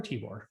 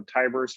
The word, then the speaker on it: Tibor: Sean, is it Tibor or Tibor? I always forget. I go with rhymes with tiger, so Tiber's fine.